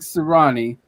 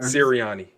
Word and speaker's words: Sirianni: So, in the spirit of our crazy new coach, Nick Sirianni, is that how you say it? Sirianni? Or Sirianni. Siri, like Siri, huh? Sirianni. Like Siri.